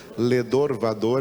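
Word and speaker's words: לדור ודור: ali diga ledor vador ledor vador é como se fala em hebraico de geração a geração dor dor em hebraico não é dor dor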